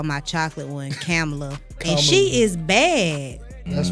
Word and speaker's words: Kamala: I just call her Kamala because it rhymes with Nala. Kamala, Nala.